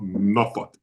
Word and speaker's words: Norfolk: But this is, you pronounce it right, it is called Norfolk, not Yes. Norfolk.